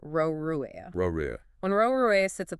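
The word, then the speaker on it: ร: Because Thai doesn't have an R ending sound in its 8 allowed categories, Roruea shapeshifts into an N sound.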